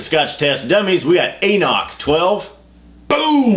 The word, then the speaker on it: AnCnoc: test dummies we got anoch 12 boom looks like ank knock yeah but they tell you how to pronounce it right on the can anoch anoch Let's test it test